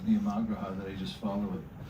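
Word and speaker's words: नियमाग्रह: Niyamagraha. This is a double, daily double. You get 2 out of this one. So niyama, and it means rules, and it's a long A in the middle. Niyamagraha, or you can make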